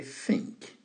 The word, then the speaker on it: think: Les TH sont difficiles à prononcer pour les francophones, mais vous faites comme si vous osotez v, think. I think. Alright, vous mettez la langue entre les doigts et vous soufflez légèrement.